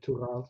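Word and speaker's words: Tuğal: Tugal, yep.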